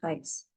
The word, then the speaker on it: heiß: It is called as SZ in German and it is pronounced as double S.